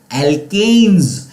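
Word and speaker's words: alkanes: एल्केन्स है। और मैंने आपको स्पेसिफिकली इसके प्रोनाउंसिएशन थोड़ा सा अलग करके बताया था ताकि आप इसको अच्छी तरह से याद रख सको। एल्केन्स, एल्कीन्स एंड एल्काइंस, okay, ताकि आप उसको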